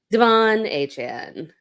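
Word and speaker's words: De'Von Achane: hell out of them in a wild way Devon a Chan I said it right this time 18 carries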